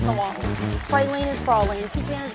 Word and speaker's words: New Orleans: We don't say New Orleans unless it rhymes in a song. It's New Orleans.